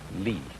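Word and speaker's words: 理: wood or the fiber in muscle and it's pronounced lee this is a character then meaning really the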